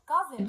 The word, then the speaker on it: cousin: cousin، خلي بالك السي بنطقها بصوت حرف الكي والاس كأنها زد كده. amazed، مندهش.